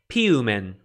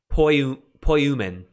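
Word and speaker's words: ποιοῦμεν: The first person plural, piumen. Piumen. If this were Erasmian, you'd say poiumen. Poiumen. But I don't use Erasmian pronunciation.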